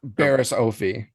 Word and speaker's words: Barriss Offee: Baris Ofie.